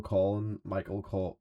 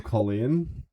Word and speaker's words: Colyn: I mean, So everybody like, who's been calling Michael Colin is Michael Colleen, and now you should yes. start addressing him by that because now we've just covered that. It's So if you were gonna spell it Colain. I was sort of thinking that, yeah. Like the woman's name.